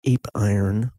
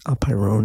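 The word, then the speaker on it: apeiron: underlying monistic substance is the boundless in Greek a pyrin spelled a PE I ro n looks like ap iron but the correct pronunciation is a pyro at any rate in English it's generally rendered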